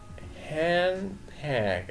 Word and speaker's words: handbag: gloves قفازات handbag handbag وعند السرعة في نطق الكلمة handbag أكن الدي في آخر الكلمة الأولانية كلمة hand مش بنطقها فبقول handbag handbag صورة بعد كده handkerchief